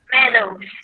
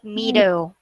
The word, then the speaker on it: meadows: it is blooms next meadows meadows meadows all right so this is not mido all right so a